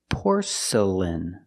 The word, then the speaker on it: porcelain: Pronunciation porcelain. The first syllable is the sound or like door and more. Poor. Porc porcelain. The next two syllables are not stressed. They are relaxed.